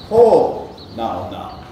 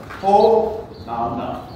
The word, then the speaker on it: Hōnaunau: So it would be ho nau nau. Okay? So ho nau nau.